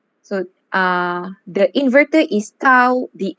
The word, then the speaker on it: tau: call this tau right i'm not sure how the pronunciation in english but i do learn this as tao in japanese i think it's the same yes it's the same it's the same great okay so it's tau okay so uh the